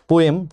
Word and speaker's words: POEM: लिख दे रहे हैं पोयम to study how life works in space ठीक है इसको वैसे पोम भी प्रोनाउंस किया जाता है लेकिन आप लोगों ने बचपन से इसको पोयम कहा होगा तो पोम पोयम ये